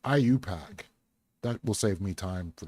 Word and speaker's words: IUPAC: The group ultimately became known as the International Union of Pure and Applied Chemistry or IUPAC, pronounced IUPAC.